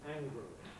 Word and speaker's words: angrily: Clearly, predominant by far is with a schwa pronunciation, angrily.